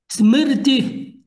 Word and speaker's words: Smriti: Schmidt, eu tenho dificuldade de pronunciar essa palavra. Me ajuda aí, Marcelo. Smith, Smith, Smith. Smriti.